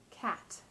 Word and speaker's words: cat: The difference is that the first one is pronounced with a release of breath, cat, whereas the second one holds the tip of the tongue at that tooth ridge, creating the held T.